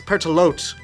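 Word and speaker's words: Pertelote: I pronounce it Pertaloo, like without the T. It could be Pertaloot. Oh wait, no, it's Pertalote.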